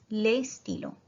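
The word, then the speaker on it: les stylos: तो ये मैस्कुलिन है, प्लूरल है, ले स्टीलो द पेन। हाँ, पर एस प्रोनाउंस नहीं होगा।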